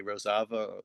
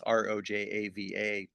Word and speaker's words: Rojava: aka Rosava or it's pronounced uh it's rojava. Uh that's a name in Kurdish.